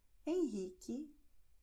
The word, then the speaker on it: Henrique: Q-E, Q-I. And in these combinations, Q-E, Q-I, pay attention, the U is silent. It's going to be written but not pronounced. So you're going to have K, K, K.